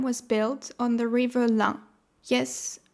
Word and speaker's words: Ain: 50 years ago, a dam was built on the river Lyon. Yes, pronounced like the number 1 in French, where it powers its energy.